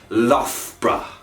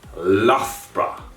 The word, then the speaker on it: Loughborough: focused university town logbo the correct pronunciation of lag baroque is lofra lothbra and you know i